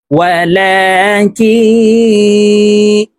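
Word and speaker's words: ولكن: ওয়ালা সাল্লা, ফালা সাদ্দাক ওয়ালা সাল্লা ওয়ালাকিন, এখানে গুন্না হবে, নুন সাকিনের পরে ইকফার হরফ কাফ আসছে, তো এই নুনকে আমরা নাকের ভিতরে লুকাইয়া গুন্নার সহিত পড়ব।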